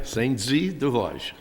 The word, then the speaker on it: Saint-Dié-des-Vosges: Is that pronounced correctly, Councilor Mercier? Saint-Dié-des-Vosges.